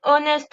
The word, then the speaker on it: honest: Et là, en l'occurrence, le H de honest ne se prononce pas.